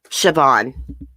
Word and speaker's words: Siobhan: Okay, wrote down how to pronounce her name because it was weird. Siobhan. That's how you say it.